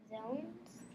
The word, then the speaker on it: zone: the O is long, and then there's consonant, and then there's a silent E.